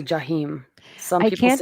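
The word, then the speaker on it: جحيم: In Arabic. uh-uh. It's, well, they say Jahim. Some I people can't say decide. Jahim.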